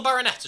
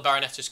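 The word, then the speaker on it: Barnetta: Well, he was at Bayer Leverkusen, but I've not kept too up to date in Tranquillo Barroneta's career. And I like his name, as it rhymes with Viennetta, which is an excellent ice cream brand.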